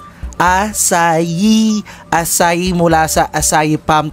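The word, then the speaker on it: açaí: natin Pero Alam niyo ba na ang tamang pronounce dito Be ay asay asay asay mula sa asay palm tree na native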